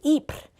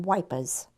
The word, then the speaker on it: Ypres: Because actually the name of the town was Ypres, and of course the British couldn't say it properly, so it became Wipers.